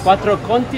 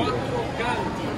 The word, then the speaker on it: Quattro Canti: Quattro Conti o quattro, quattro Conti? Quattro Canti. Quattro Canti.